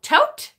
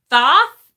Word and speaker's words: Thoth: Oh, tote? Really? I've never heard it pronounced that way, Zach. Hi, Zach. Thank you. I have heard it pronounced Thoth and Thoth, but not tote, ever.